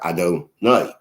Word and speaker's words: Adonai: We pronounce it as if it said the word, the word my master, Adonai.